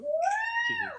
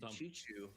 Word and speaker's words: Shihu: Is that you say his name? Shihu? Shihu, yeah. Ya, France misplay ya, dia mainin Avarosa Sentry. I was also calling him Chichu all this time. That is definitely not it.